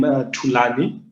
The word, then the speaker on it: Thulani: Yeah, but actually, that's my real name, Thulani. So Thulani. it's kind of like with the two, yeah, and that actually means to be quiet in Xhosa, which is my original language.